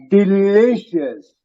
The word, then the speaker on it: delicious: Delicious. Delicious. That E is pronounced not A but E. E lead. You accentuate on the lead.